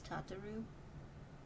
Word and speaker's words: Tataru: she ensures that everything runs smoothly wait it's tataru oh tataru i've been saying your name wrong for 10 years tataru sorry tataroo please